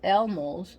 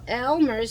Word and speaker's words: Elmer's: I prefer Elmer's glue. So let's see. I prefer Elmo's. I'm Hispanic and I'm New Yorican, so I speak Spanish, English, Spanglish, and many other languages that I'm learning. So Elmer's.